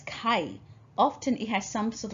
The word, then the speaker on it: 会: And if you pronounce it as kai, often it has some sort of meaning associated with meeting or gathering.